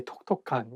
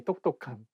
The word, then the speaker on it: 똑똑한: You cannot say 톡톡한. You have to say 똑똑한.